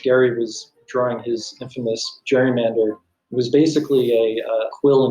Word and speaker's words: gerrymander: in the past so which is right jerry or gary we are long past the pronunciation gary mandering in any attempt to make us go back to that pronunciation would be a mistake nearly the entire world says gerrymander so say gerrymander like the entire world i said you know everyone and i mean everyone says gerrymander she said everyone is